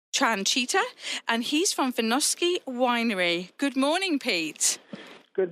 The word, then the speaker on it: Vinoski: Now, am I saying it right, Vinoski? Is that the right pronunciation?